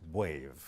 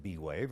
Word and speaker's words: B'Wave: term brain wave and so it is properly pronounced wave I've never gotten upset if someone pronounces it b-wave I just know they didn't hear me pronounce